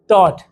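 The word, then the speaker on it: taught: टॉट, टॉट क्या पढ़ेंगे, टॉट। UGH silent होता है इंग्लिश में, तो TAT पढ़ेंगे, टॉट। टाट भी नहीं पढ़ेंगे, टॉच भी नहीं पढ़ेंगे, टॉट पढ़ेंगे, क्योंकि टी आ रहा है तो थर्ड फॉर्म की स्पेलिंग सेम।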